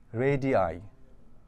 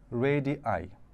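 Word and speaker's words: radii: আর এটার প্লুরাল হচ্ছে রেডি আই। উচ্চারণটা একটু খেয়াল করবেন। রেডি আই আর এটা ছিল রেডিয়াস।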